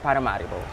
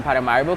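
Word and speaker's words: Paramaribo: by true colonization uh there's been a complete let's just say misinterpretation of what the name is or how it's supposed to be pronounced and it's it changed from paramoro paramorbo to paramario. Okay.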